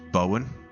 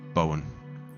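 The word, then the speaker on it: Bomoen: Uh, the It's called It's spelled B O M O E N, which I believe is pronounced Bowen. as in the surname Bowen, like Jared Bowen, West Ham.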